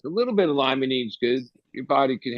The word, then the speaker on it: limonene: And maybe not all terpenes, but one terpene that probably will fit into that is that limonene, right?